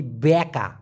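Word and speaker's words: bengkok: খাস বাংলায় যেটাকে বলি ব্যাকা এটাকে মালয়েশিয়ান ভাষায় বলা হয় বেঙ্কক ব্যাংক ব্যাংক অনেকে বেঙ্গকল বলে তবে মূলত ব্যাংক এখন বাঁকা রাস্তা রাস্তায়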